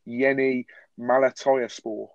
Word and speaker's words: Yeni Malatyaspor: And I think this is my best stab at pronouncing this correctly, but it's Yeni Malatyaspor, who are in the Turkish top flight.